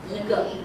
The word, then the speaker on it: 一: So, this one has really three pronunciations. By itself, it's first tone, 一, but when it becomes, when it adds to another measure word, it changes some.